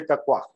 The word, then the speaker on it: KKWIEER: In our time, we used to say kakwa. it was a much more, you can say, parody than the pronouncing the name of the institute.